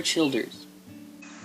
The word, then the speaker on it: Childers: what's that bro it's a guy named tyler childers tyler cheerleader tyler childers yeah and he's kind